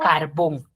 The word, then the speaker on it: carbón: Entonces, a diferencia, por ejemplo, de si el término carbón. Carbón, sí, yo la tildo. Uno, porque tiene la mayor fuerza de voz en la última sílaba, que es La última sílaba, exacto.